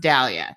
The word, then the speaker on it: Dalia: week told you that my name is actually pronounced Dahlia so it's perfect that